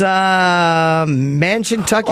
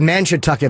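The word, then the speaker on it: Mashantucket: It's Mansiontucket. Oh, that's how you say it. I had no idea. Oh, Mansiontucket. I thought it said Mansiontucket.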